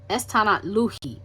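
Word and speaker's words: Estsanatlehi: Esti pronounced estan luhi. Okay. Estanatluhi.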